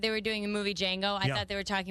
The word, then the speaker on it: Django: The D is silent. You found that out? It's Django, isn't it? Okay. I thought it was Django.